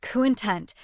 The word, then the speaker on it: content: The word content, pronounced content, means quietly happy, not because everything is perfect, but because you accept it as it is.